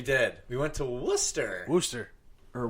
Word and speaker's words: Worcester: weeks ago we did we went to Worcester Worster or Worchester as Mike would say yeah Wester yeah I don't know why it's pronounced it's spelled w r massachusett is a